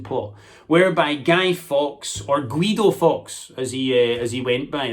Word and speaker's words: Guido: whereby Guy Fawkes, or Guido Fawkes, as he went by, that was the Spanish pronunciation of his name that he would use, Guido Fawkes.